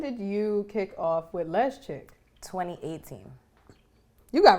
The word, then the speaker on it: Lezchic: So all right, if we're gonna we gotta pronounce it correctly. You ready? It's Lezchic.